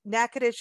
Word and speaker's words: Natchitoches: know or you may not know that it nakadish is spelled n-a-t-c-h-i-t-o-c-h-e-s so it's a little bit different